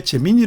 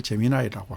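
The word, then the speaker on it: Gemini: 하는 건지 아시나요 예 왜 재민이 안 읽고 재민 아이라고 읽냐고요 미국에서 사람들이 재민이 관 읽고 재미 아이로이 발음을 하니까 저도 재미 아이로고 읽습니다 예 구글에서 하는 인공지능 생성의 인공지능 서비스를 재미 나이라고 합니다 구글은 어떤 강점이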